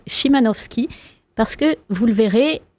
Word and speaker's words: Szymanowski: L'invité a très bien fait de me reprendre sur la prononciation du nom, qui est donc Szymanowski, parce que, vous le